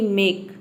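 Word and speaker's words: make: करते हैं, जैसे कि मेक। एम का म हो जाएगा, ए का हो जाएगा ए, के का हो जाएगा क, और ई साइलेंट है क्योंकि वर्ड के अंत में आया है।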